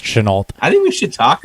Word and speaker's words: Shenault: Solid week from Visca Shenault. Chenault. Sorry, I keep trying to French it out, but I think it's accidentally pronounced Chenault.